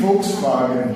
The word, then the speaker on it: Volkswagen: Uh yeah Germany folks bargain is the proper pronunciation of that folks. Folks means people means people's vehicle.